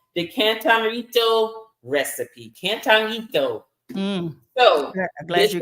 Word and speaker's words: cantarito: Cantarito. So I'm glad you pronounced it. Cantarito. I'm not gonna try. Not gonna try. You gotta roll the Rito.